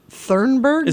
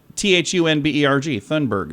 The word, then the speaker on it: Thunberg: Thornburg? How do you say it? Isn't it Thornburg? I don't know. There's not an R. If there is, maybe it's not in this. Yeah, it just says Thunberg. Thunberg.